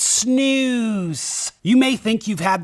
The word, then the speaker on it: snus: no pun intended and yes it is pronounced snoo not Snus I remember back whenever America first uh released their snoo everybody started calling it Snus and that was with